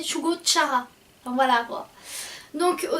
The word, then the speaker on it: Shugo Chara: On a dit Shugo Kara puis Shugo Chara, mais c'est Shugo Chara.